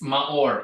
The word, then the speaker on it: Maor: name to pronounce huh it's maor m a o r ma or